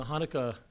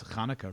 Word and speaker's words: Chanukah: was hoping you'd pronounce khaka really well as well I'll try the Hebrew the Hebrew Kana the the beginning sound is not really found in English so it's a tricky one doesn't really have that